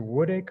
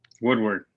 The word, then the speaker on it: Woodward: Is it Woodacre or whatever? It's a big camp. Woodward. Woodward, that's it.